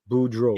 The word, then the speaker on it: Boudreaux: See, EAUX is O, Boudreaux. Yeah, so that's how you pronounce that in Boudreaux down here.